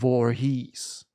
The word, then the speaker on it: Voorhees: Jason Voorhees. So spricht man das aus.